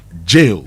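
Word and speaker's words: gaol: So, that's a it's a it's it's an oldfashioned word for jail. Yes. So, it is jail. It's the same thing.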